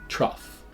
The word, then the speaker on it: trough: animals eat out of the first sound again is T then we have our R and here we have the same sound as in thought a but in this word the GH does give us a f sound trough another patterns like trough